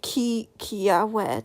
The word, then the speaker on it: Kiawe: But instead of doing something for, look at this is Kiawe, that's how you pronounce it, twin, / lighthearted / silly, Kiawe.